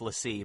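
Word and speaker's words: l'Cie: It's supposed to be pronounced Lessee, but it will be called Icy forever.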